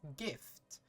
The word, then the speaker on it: GIF: present don't you know don't you dare that is pronounced GIF and I will not hear anything else soon a soon after